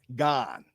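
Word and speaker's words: Gane: How do you pronounce his name? Because I always say Gaines. I say Gaines, and I know that is completely wrong. I forgot how to say his name. What's his name? How you pronounce it? Gone. Right. Gone.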